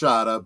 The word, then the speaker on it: Shada: Shada with the snake at the end it's pronounced Shada but yes sh okay yes the the snake